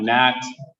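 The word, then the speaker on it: gnat: smaller than a fly starts with a g a silent g a nat what am i doing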